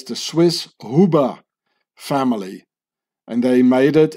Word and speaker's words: Huber: And they become, from here it says, the Swiss Huber family. And they made it into Hoover, because the U in German is pronounced like a double O, like who. Ooh, you know, and the